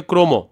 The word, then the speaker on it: ক্রম: যেমন দেখো আমরা এখানে লিখছি হচ্ছে ক্রম। কিন্তু আসলে এটা শুদ্ধ উচ্চারণটা হচ্ছে ক্রম।